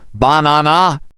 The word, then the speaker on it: banana: than others for example in the word banana we stress the second syllable banana right and stressing the